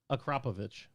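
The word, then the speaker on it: Akrapovič: friend oh Matt Wood acropro is pronounced acrop akropovic I think he's missing a covich acrapovic I'm in love that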